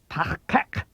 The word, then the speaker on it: Tahkak: There's a new sound at both the beginning and end of the second syllable, kak. Be careful. This is not the Federation standard K sound. You make it like a K, but as you did